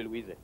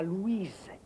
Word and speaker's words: Louis: T'es trop susceptible, Louise. Et on prononce Louis, pas Louise.